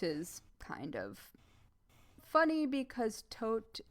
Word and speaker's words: Todt: until Anthony Todt, which is kind of funny because Todt is death in German. It's spelled differently.